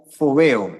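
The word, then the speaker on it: φόβος: allí para temer es una palabra griega que se pronuncia fobo con f es palabra teme palabra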